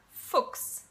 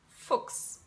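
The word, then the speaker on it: Fuchs: letter which is okay so whenever you have CH s in combination it makes the sound x soaked six okay alright so I'll give you a couple of examples dear folks dear folks thus VAX tomb does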